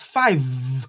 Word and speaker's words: five: That number is five. You must sound the V in it. Because if you don't sound the V, you are saying a proper noun. A place in Scotland is called five, and it is five.